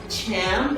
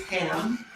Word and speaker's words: Cham: If you've never seen his name spelled like that, you don't only pronounce it as Ham, but you can also pronounce it as Cham, like people have since ancient times.